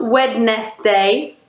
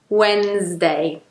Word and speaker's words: Wednesday: it's just comfortable okay so we actually lose the syllable there another day of the week not wet nest day Wednesday not wet nest day